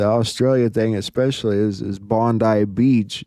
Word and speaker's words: Bondi: You know, the interesting thing about the Australia thing especially is is Bondi Beach, it's spelled just like Bondy, like Pam Bondy.